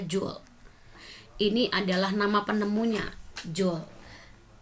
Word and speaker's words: joule: itu punya satuan Joule tulisannya Joule dibacanya Jul ini adalah nama penemunya